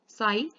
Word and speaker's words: psi: psi. p is silent here. ठीक है, psi क्या होती है एक्चुअल में?